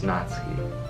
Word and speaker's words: Natsuki: So isn't it like Natsuki or something? I looked it up because I didn't want to say it wrong. I'm pretty sure it's Natsuki. It's not Natsuki, right?